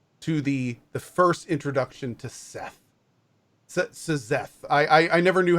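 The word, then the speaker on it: Szeth: And then that leads right in to the first introduction to Seth. Seth. I never knew how to pronounce his name properly. It's just Zeth with the S, yeah.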